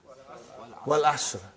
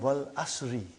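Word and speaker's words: والعصر: What is the first ayah? Wal Asr. Have you ever noted down what is written there? It's called Wal Asri. It's majroor.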